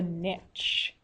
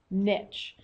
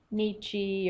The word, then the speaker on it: niche: the habitat versus the Niche I like that word that's pronounced Niche it's not Nichi or nichy there's be cool though the nishy it's not it's niche all right so the